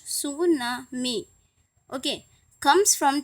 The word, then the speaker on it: tsunami: सु मीन्स यहाँ पे टी साइलेंट है, इसलिए हम टी सू नहीं बोल रहे हैं, यहाँ पर सु बोल रहे हैं।